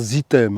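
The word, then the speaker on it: items: Ça se prononce Zitem, hein, parce qu'il y en a plusieurs.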